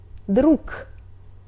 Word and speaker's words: друг: We write друг but we pronunciate . Г is voiced consonant but it's in the end of word, so we pronunciate it like unvoiced pair — К — .